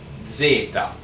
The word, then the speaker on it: zeta: Then we have the last letter of the alphabet, that is the Z, and we pronounce it like Zeta. So it's like Z, E, T, A, Zeta.